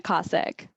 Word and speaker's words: Kosec: I hope I'm pronouncing your name properly. Yeah, Kosek. Kosek, okay.